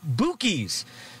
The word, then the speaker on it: Buky's: Buc-ee's name, that his store name is actually pronounced Buky's, a name that his friends used to call him when he was a kid. Again, the owner of this store, Buky's as he calls it, says he is not